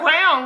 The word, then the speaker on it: crayon: 20 for my Crayola crown right crayon or however you pronounce it we in the Midwest we pronounce it like a crown you put on your head I was so bad